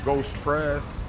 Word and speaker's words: GOSPREZ: uh g p EZ that's pronounced ghost press ghost press yes sir all right so